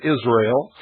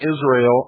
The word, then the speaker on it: Israel: it is significant that they separate the name Israel into three syllables Israel with dashes it stands for Isis ra who is represented as Osiris and l l means god the hitherto rejected reverse